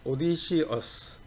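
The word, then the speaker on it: Odysseus: 오디시어스, 영어 발음으로는 오디시어스, 그죠? 우리나라는 오디세우스 이렇게 얘기하는데 오디세우스가 이제 주인공이에요.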